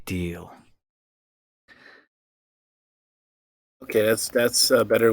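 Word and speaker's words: Djil: uh the mysteries of Dil d j i l Mr House pronounced deal it might be deal okay that's that's uh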